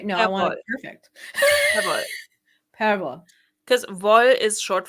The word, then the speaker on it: Perwoll: Perwoll. Can you say that again, but slower and louder? Perwoll. Perwoll. Close enough. Okay, no, I want it perfect. Perwoll.